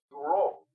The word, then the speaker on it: Bureau: Y déjame comentarte, Domingo Buró, el apellido se escribe Bureau, que en francés se pronuncia Buró.